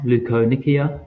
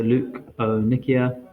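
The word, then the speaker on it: leukonychia: the next nail disorder is pronounced lucon Nikia so Luke o Nikia and these are basically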